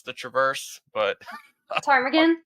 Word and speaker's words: Ptarmigan: She's hiked some very dangerous traverses, and I can't pronounce the traverse, but Ptarmigan? Ptarmigan, yes.